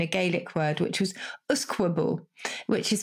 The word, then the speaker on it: usquebaugh: 16th century in a Gaelic word, which was Usquebaugh, which is spelled U-S-Q-U-E, B-A-U-G-H.